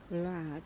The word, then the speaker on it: Rad: we are talking about vlad now to pronounce it properly you should roll your r i can't so i